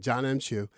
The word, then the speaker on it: John M. Chu: Did I say John Chu or John Cho? Is that right? You said Chu. I said John Chu. Is that Chu? I don't know her name. Hold on, because I'm high. I said it right. John M. Chu.